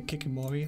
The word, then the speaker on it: Kikimora: in this ship the I'm gonna say kicking Maury that's how you that's how I pronounce this for anyway this is the